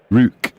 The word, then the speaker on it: Ruch: So it says it should be Rue with a KH on the end, with a soft, throaty KH at the end.